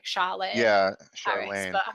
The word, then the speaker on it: Charlaine: But I would say, based on the spelling, that it's Lane, as in Elaine, like Charlaine.